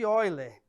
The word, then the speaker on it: Euler: é chamada fórmula de Euler repare que se escreve eu li mas a leitura é ó ele tá bom E essa